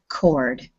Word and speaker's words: chord: okay that is chord i know it's ch and it should be chord but in english that word is pronounced chord as if there is no h okay so when we